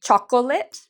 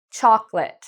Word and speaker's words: chocolate: thích của thức ăn, tôi nghe rất nhiều học sinh nói: "choc-o-muộn", nơi họ phát âm này "o". Trong tiếng Anh, chúng ta không phát âm đó. Chúng tôi thường nói ... Vì vậy, chúng ta không nói "choc-o-muộn", đó là ba âm tiết; chúng tôi thực sự nói: "Choclate", "sô cô la", "Chocolate".